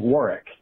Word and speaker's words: Warwick: wark, or something similar, usually the final W is silent. For example, a couple cities with famous castles that look like they should be pronounced Norwich and Warwick are actually pronounced Norwich and Warwick.